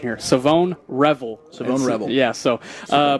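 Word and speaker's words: Shavon Revel: And uh, I've also been learning the the pronunciation here. Savone Revel.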